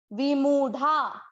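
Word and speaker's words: विमूढा: देखें, वी की मात्रा हम लंबी नहीं खींच रहे हैं, लेकिन मुंह को अपने को उच्चारण में ज्यादा समय देना है। विमूढ़ा, विमूढ़ा।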